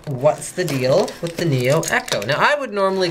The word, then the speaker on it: Neo Eco: But everyone from Antec keeps calling it Neo Echo to me. So I'm like, okay, well, I guess I better pronounce it their way.